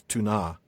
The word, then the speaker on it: Túna: So, it's not that it's an issue of stress, it's an issue of really enunciating that A and pronouncing it instead of making it a like a sort of a a schwa, I guess is what it would be.